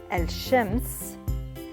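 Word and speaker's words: الشمس: When we have L al-Shamsiyya, as in the word al-Shams, al-Shams, the la in this case is not produced or pronounced. Instead, the consonant after the glottal stop and vowel is doubled. Al-Shams, al-Shams. So we doubled sh.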